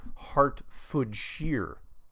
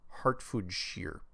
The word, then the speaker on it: Hertfordshire: my name is from hertfordshire which pronounce oh okay heart shear heart food shear my question is on your previous show was